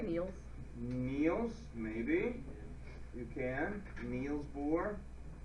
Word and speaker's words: Niels: Niles. Could you say Niels? Niels, maybe.